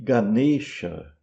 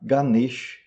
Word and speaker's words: Ganesha: Se você está querendo pronunciar o nome em sânscrito, então é chiva e ganexa. Mas se você estiver querendo pronunciar em rinde, que é um idioma atual na Índia, um dos dos muitos idiomas atuais da Índia, então você vai falar Ganesch e Shiv.